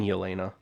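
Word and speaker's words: Yelena: can talk about Spider-Man say her name properly it is Queen y Elena Queen yena she is the queen of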